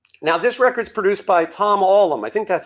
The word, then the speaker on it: Tom Allom: Now, this record's produced by Tom Allom. I think that's how you say his name, right? Tom Allom.